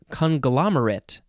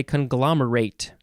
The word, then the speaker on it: conglomerate: It is conglomerate, or you can also say conglomerate.